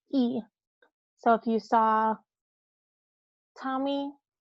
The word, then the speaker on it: y: So if you ever see the letter Y by itself, it is the word for and it is pronounced E.